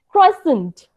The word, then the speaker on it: croissant: Croissant.